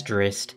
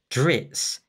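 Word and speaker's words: Drizzt: attacks drizz it and i'm going to pronounce it drizzy the game uses drist the character has been officially referred to by the author in the books as drist drits and drizzy i think drizzy is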